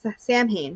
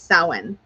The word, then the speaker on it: Samhain: sound was one that a lot of people have called samhain because that's what it looks like when it's written out it looks like i'm literally playing with my chapstick it looks like champagne written out but it's samhain tacos are really antsy